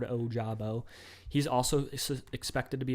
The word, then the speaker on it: Ojabo: David Ojabo is the guy that you probably hear a bunch of people trying to pronounce his name, but it's pretty straightforward, Ojabo.